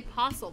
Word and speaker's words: Postle: T or you yeah I don't pronounce the T okay I just say posle because I think that's